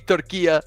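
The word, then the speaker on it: Türkiye: it's got to be turkey it's got to be turkia is the correct pronunciation these days um reigning Champs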